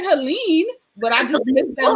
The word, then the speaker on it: Helene: So you guys, I'm going to actually show y'all some work, some of Helene's work. And am I pronouncing your name right? Is it Helene? Helene. Helene? Helene. Oh, Helen is fine.